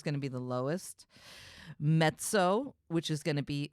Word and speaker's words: mezzo: and it's also called mezzo soprano also you when you guys see it it's written as meso but it's like pizza this is the way you pronounce it in Italian mezzo so just realize that's